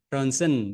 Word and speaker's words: Röntgen: Röntgen, Ronsen bacanya ya.